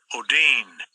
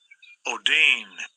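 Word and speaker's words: ὀδύνη: Let's take a listen to of how this word is pronounced in Greek. Strong's G5604 odyne odyne The Greek word oodyne, it means contraction.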